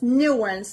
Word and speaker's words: nuance: The American pronunciation is like this: nuance. The stress is on the first part.